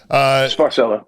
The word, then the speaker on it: Sparcello: Was the bass player at the time, Frankie Sparcello, I think is how you say the name. I'm not 100% sure, but is that how you say it, Sparcello? Yeah, that's it. Yeah. Sparcello.